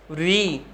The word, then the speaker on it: ऋ: आ, ई, ऊ, री। ध्यान दीजिए, इसका उच्चारण आप ध्यान दीजिएगा। री है, री से ऋषि होता है। बहुत बार बच्चे र से रथ बोलते हैं, रथ नहीं होता है, री से ऋषि होता